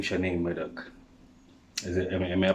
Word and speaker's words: Maddocks: definitely change um we know the name shannon medak is it am i pronouncing it well no we don't pronounce it wrong maddox is but you got it guys you